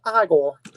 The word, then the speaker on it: Igor: max you never called igor marty feldman no it's pronounced igor indiana jones snakes why